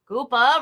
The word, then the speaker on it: Koopa: them bone scoop up koopa rhymes with hoopa okay all right quiz